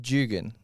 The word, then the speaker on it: Jugan: It's Jugan. Jugan. Yeah, so like Jugong, but N.